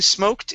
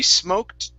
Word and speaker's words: smoked: is smoked cheeses now in between smoked and cheeses okay you added an extra sound saying smoked okay this is going to be smoked cheeses try that smoked